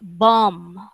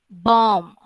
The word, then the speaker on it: bomb: um this word is bomb bomb without um without pronouncing the sound at the end of it all right everybody say